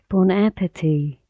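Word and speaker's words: bon appétit: بون اپتی، بون اپتی به معنی نوش جان، و اگه دقت کنید تی آخر تلفظ نمیشه، میگیم بون اپتی.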